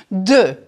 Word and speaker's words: deux: Sorry, there's no real equivalent in English. Deux.